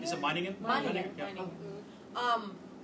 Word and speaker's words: Meiningen: I don't have a hard time pronouncing those names. Where? Meiningen? Is it Meiningen? Meiningen.